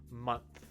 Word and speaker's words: month: the sound of the vibration right mon and then when you get to the th stops nothing right month now try saying the